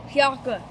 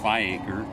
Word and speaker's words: Fiacre: It looks like Fiacre or Fiacre. It's French. Do you have to roll your R? Fiacre?